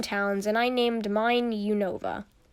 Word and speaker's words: Unova: So after we got the games, we made our own towns, and I named mine Unova, or Univa, depending on how you name it. Depending on how you say it, I mean.